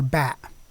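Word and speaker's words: باء: The second one is the letter Ba. Ba, and it represents the sound B, as in the English word boy.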